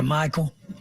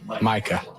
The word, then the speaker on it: Micah: Did I talk to Michael? Micah. His son, Micah. About, I'm sorry, I didn't get the. Michael. I mean, dude, the guy is Micah.